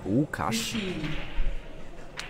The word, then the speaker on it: Łukasz: L on beginning of his name is a typical Polish letter. The pronunciation of it is L. It's Łukasz.